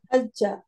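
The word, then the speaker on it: حجّ: আজ হাজ্জা। হ্যাঁ আবার বলেন তো আপা। হাজ্জা। না, আপনি যা উচ্চারণ হয়ে যাচ্ছে, হাজ্জা। হাজ্জা। বর্গীয় জ হজ্জা ক্লিয়ার উচ্চারণ করতে হবে, হাজ্জা।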